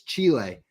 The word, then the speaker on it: Chile: then jl was like it's not chili you nincompoop you idiot it's chile so now i say